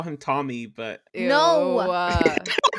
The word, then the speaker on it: Thil: Tom yeah but then he goes through like this thing of how to pronounce it with the the th sound yeah it's th thil so but we're gonna call him thil well you can say thill thill it just sounds like a thumb I don't know if